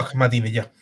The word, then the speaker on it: Ahmadinejad: una cosa es atacar, pero ¿cuántos años hace que, creo que el primero fue, ¿cómo es que se pronuncia? Amanireyad, Mahmoud Ahmadinejad.